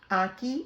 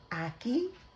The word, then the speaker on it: ackee: anki and salt fish now i may have pronounced that wrong because my accent and a jamaican accent it just it it just be having a little issues but it's aki and saltfish come with me